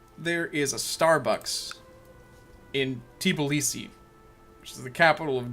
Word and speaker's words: Tbilisi: By the way, this is pronounced Tbilisi. It's got a whole other syllable in it that we seem to miss. It's not Tbilisi, it's Tbilisi.